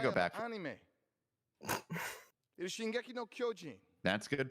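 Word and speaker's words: 進撃の巨人: It is Shingeki no Kyojin. That's good pronunciation.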